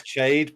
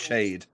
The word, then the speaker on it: Chad: but like the posh way of pronouncing it is Chade, but like the peasants call him Chad. I'm like, it's pronounced Chade.